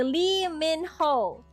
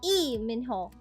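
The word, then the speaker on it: 이민호: It's just how you say lie minho. It's how you say lie minho when in fact in Korean it's e minho.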